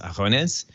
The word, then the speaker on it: Agones: I'm not a quality, but apparently it should be pronounced Agones with a soft G, which is like a public contest. It was like pre-Olympic type of thing. But if you say it with a hard G, it actually means elbows.